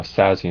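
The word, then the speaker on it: Szasz: also make some videos on like you know sassy and theory and um you know depression and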